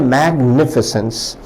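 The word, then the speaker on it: magnificence: विद्यार्थी ध्यान दें शब्द का उच्चारण है मैग्निफिसेंस। दो खंडों में कहें पहले मैग फिर निफिसेंस।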